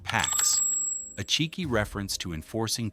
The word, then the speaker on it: P4X: He adopts the pseudonym P4X, pronounced PAX, a cheeky reference to enforcing peace through punishment.